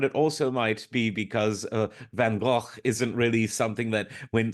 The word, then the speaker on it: van Gogh: This song was, of course, all about the Dutch Impressionist painter Vincent van Gogh, sometimes pronounced Van Gogh.